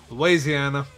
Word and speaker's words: Louisiana: the new album from Louisiana hardcore band Capra. The band's new album, Errors, will be released on October 6th via Metal Blade Records. Correction there is Louisiana. Not Louisiana.